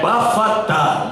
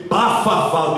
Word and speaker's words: Bafatá: É Bafatá, mas eu entendi dizer, pronunciar pela primeira vez, Bafafá.